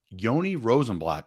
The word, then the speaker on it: Yoni Rosenblatt: to say all right we have the legendary Yoni rosenblatt joining us how you doing buddy I'm doing great I'm thrilled you pronounced my name properly thank you for that